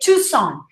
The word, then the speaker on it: Tucson: of the wrong pronunciation we say tucson don't say the sea okay red bull red